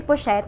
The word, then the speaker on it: pochette: -Bochette? Pochette? This is Multi Pochette. -Oh, it’s Pochette. Pochette.